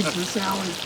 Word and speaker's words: Versailles: It's spelled Versailles. But they say Versailles.